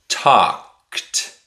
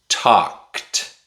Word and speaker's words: talked: talked talked Talked is the past tense of the verb talk. Notice that the e at the end of the word is silent.